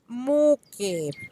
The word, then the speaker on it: mucche: To convert it to the plural, we are also going to change the ca to the syllable che, that it says like the letter C. In the pink branch, we have the plural noun, cows. If we replace the final syllable, we have muque.